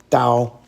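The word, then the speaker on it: 刀: The knife radical is pronounced dao.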